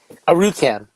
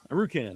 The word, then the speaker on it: Arucan: And the That's first time on the show, how do you say the last name? Arucan. Arucan. All right. It was just like it's spelled.